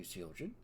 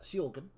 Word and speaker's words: Soran: pleasant to meet you seorin it's uh soran I apologize pronouncing your name incorrectly uh so we will